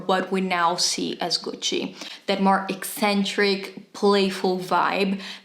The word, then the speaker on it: Gucci: but just know that it is not Goosey and it's not gooksy it is Gucci or if you want to be very Italian Gucci come on do I